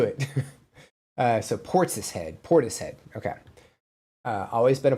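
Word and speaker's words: Portishead: Portis head. Okay, thank you. Thank you for the clarification. Thank um I knew I was saying it wrong. I It had to have been wrong.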